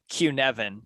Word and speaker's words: Cynefin: that word again yeah it's c-y-n-e-f-i-n q-nevin and actually where i